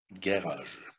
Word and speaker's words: garage: Первая буква Ж не стоит ни перед E, ни перед I, ни перед Y. Следовательно, она будет произноситься как звук Г.